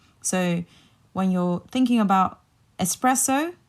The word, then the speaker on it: espresso: when you're thinking about espresso like take out the X and just remember it's pressed so you put the